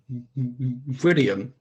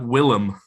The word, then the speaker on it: Willem: No, his first name. William. Nah, Willem. That's all. Oh, is that how you say it? The fuck? Willem Dafoe. Yeah, not William Dafoe.